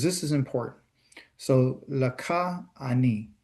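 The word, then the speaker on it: אני: I is an A and an N and an I.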